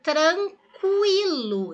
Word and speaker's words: tranquilo: Eu falo tranquilo, eu pronuncio U.